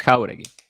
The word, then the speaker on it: Jauregui: It's Jauregui. How are you? Like it's a hard J.